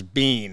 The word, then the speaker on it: Biehn: It's only been in the last 10 years that people have actually pronounced my name as Biehn.